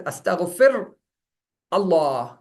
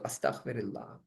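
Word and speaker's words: أستغفر الله: Therefore, you don't read it as astaghfir Allah. No. When you're connecting, you bring in a kasre so that the pronunciation is in a flow and not a sudden halt there. So astaghfirullah.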